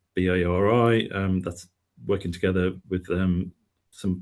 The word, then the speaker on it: BARI: we've been doing so Project BARI (pronounced Barry) that's working together with some partners to basically look after birds in Sandbanks essentially from Studland to Sandbanks.